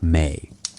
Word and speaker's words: Me: There's a concept in Sumerian thought called the Me, pronounced May.